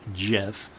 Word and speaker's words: GIF: GIF Creator and yes I pronounce it gif because the Creator from The Commons of the source code he called it Jeff and since that's the way I heard it growing up that's the way